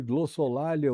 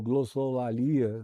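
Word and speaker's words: glossolalia: em numa espécie de glossolia ou glossolia, depende de como você deseje escolher a pronúncia, mas é essa a palavra glossolia.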